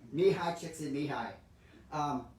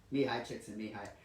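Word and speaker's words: Mihály Csíkszentmihályi: I was so proud when I finally learned to say his name, Mihai Csikszentmihalyi, because there are so many more letters in his name than there are in the sounds. Mihai Csikszentmihalyi.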